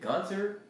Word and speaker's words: Gunter: He said Gunter. How you said that? That's how you pronounce it.